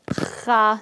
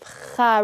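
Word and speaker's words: خ: So dig deep, Kha, think of Kha really, really deep down, a deeper sound than the K sound.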